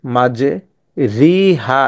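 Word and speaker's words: مَجْرٖىهَا: উচ্চারণটা জবর এবং জের জবর এবং জেরের মধ্যবর্তী স্থানে উচ্চারণ হবে রে উচ্চারণ হবে রে ঠিক আছে এটাকে আমরা বিসমিল্লাহি মাঝি রিহা পড়বো না এটাকে পড়বো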